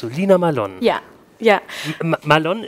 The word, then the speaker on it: Mallon: Malone ist so richtig ausgesprochen? Malone ist komplett richtig ausgesprochen, ja. Also richtig gut. Normalerweise sagen die Leute Melon, okay. Was nicht richtig ist. Malone ist richtig.